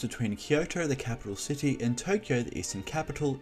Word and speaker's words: Kyoto: toe Toyo meanwhile in Kyoto the toe is pronounced with a sharper and shorter annotation lacking the elongated vow Kyoto thus the similarity in their name stems from